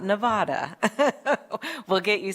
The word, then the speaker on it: Nevada: thank you for being here and traveling to Nevada not Nevada we'll get you saying it right no worries